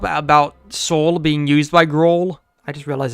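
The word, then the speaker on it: Groal: I love how the lore drop about soul being used by Gro. I just realized his name rhymes with soul.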